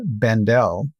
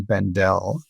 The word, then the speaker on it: Bendell: Well, I pronounce it Bendel, but I guess we'll have to ask him what the proper pronunciation is.